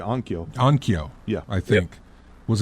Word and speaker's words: Onkyo: Denon and I'm going to mispronounce it. Onoko. I want to say Onkyo.